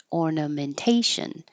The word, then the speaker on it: ornamentation: This I highlighted um made this bold because when you see the suffix shun any variation s i o n t io n c io n um the syllable before is almost always stressed the primary stress.